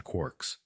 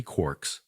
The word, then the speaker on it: quark: the letter K but it is usually pronounced to rhyme with Lark several varieties of quirks